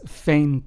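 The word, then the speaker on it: veinte: pronounced as escoba whereas we have vain which means 20 in Spanish is pronounced as Fain almost like if it started with an F right but not really so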